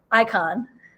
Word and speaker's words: Icahn: name of your school I can it can icon like on a school of medicine and this is at